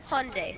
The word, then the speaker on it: Hyundai: like Sunday not high on day what it's Hyundai what are you talking about you talking about